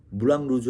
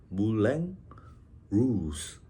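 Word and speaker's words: Moulin Rouge: 우리가 무랑 루즈 하잖아요. 무랑 루즈가 빨간색 풍차라는 뜻입니다. 물랭 루즈. 프랑스어는 약간 R 발음이 이런 발음이 나죠.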